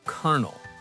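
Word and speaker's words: colonel: What about kernel? It's spelled C-O-L-O-N-O-L-E. But it's pronounced like a popcorn kernel.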